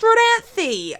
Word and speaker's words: Rodanthe: I pronounce it Rodanthe north carolina parent lakes pronounced Rodanthe okay call a waterfall part down in Rodanthe